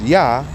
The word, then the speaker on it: Yah: that means Yah, that says Yah. That's how you say it, Yah in Hebrew, Yah, the apostrophe.